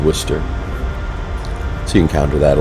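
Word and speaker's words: Worcester: example is spelled similarly but you know it's pronounced Worster so you encounter that a lot and that's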